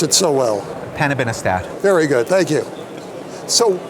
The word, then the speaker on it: panobinostat: This one, you pronounce it so well. Panobinostat.